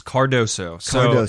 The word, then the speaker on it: Cardoso: name fully all right it's cardoso if you look at it how it's spelled it's it you say it exactly how it's spelled exactly you just gotta sound it out and just i like